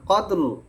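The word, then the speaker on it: قدر: ইন্না আজালনাহুফি লাইলাতিল কদরলা কদর র কই রত শোনা যাচ্ছে না কদর উচ্চারণ আনতে হবে নালে কিন্তু অর্থের পরিবর্তন হয়ে যাবে কদর লাইলাতুল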